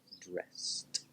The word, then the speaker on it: dressed: it's just tea Sam the rule is this when the infinitive or the base word doesn't end with a tea or at the sound when we add edy it is pronounced just the T sound so dress there's no tea there's no D so put it into past dressed now when we have